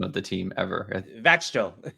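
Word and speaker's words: Växjö: Vaxjo. You say it like it looks like.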